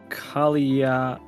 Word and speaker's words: Kalia: So Kalia, phonetically, is Kalia on exhale.